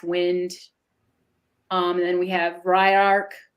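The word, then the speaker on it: Ylark: And then we have Ryark. It looks like it's Radark, but I looked it up and you pronounce it Ryark, which means the power of vision.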